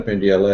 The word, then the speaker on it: Pendyala: before that uh uh my name is pendella as Jim probably one of the few people who pronounced my name correctly thank you Jim um